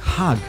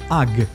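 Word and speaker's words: HAG: called with the word hug note that the italians do not pronounce the letter h so it sounds as ugg therefore if being in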